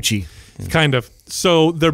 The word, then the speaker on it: Gucci: So it's spelled G-N-O. C-C-H-I, gnocchi. So that G-N makes it sounds like sound. Gucci.